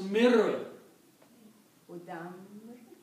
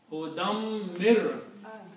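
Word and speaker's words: هُدًى مِّن: And then when you come to this point, then this noon gets killed because of the ra. Right. So it becomes mir, Udam. mir, hudam mir, Udam.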